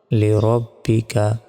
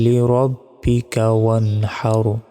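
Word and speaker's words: رَبِّكَ: রজবর রব বা জের বি কাফ জবর কা রব্বিকা নুন জবর ওয়ান হার জবর হারলি রব্বিকাহার আমরা অনেকে এখানে ভুল উচ্চারণ করি বলি যে ফাসাল্লি রাব্বিকাহার দেখুন পুরা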